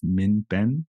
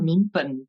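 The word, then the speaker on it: 民本: And maybe we could start here with the idea of min ben, which means the people as basis.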